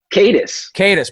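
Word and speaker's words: Katis: Who's Peter Caddis, or how do you pronounce his last name? Caddis.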